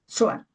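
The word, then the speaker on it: Tzoar: No Zoar como el libro, sino Zoar con T-Z-O-A-R. Zoar.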